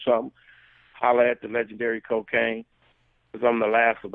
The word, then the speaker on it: Kokane: It's spelled KOKANE _brand. That's cocaine _brand. And if you want to